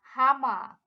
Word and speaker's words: Hammer: we have the hammer it is written the same way as in english but pronounced dear hama singular and in plural there